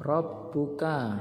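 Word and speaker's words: رَبُّكَ: luar ya contohnya Hai Robbuka Robbuka Robbuka ini membacanya ditekan Robbuka gaya hurufnya itu double Robbuka nah kemudian tanwin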